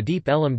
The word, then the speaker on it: Deep Ellum: The name Deep Ellum comes from local people pronouncing Deep Elm as Deep Ellum.